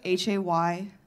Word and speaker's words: Hayleigh: It's Hayleigh. The G is silent like the victims of the Haitian genocide.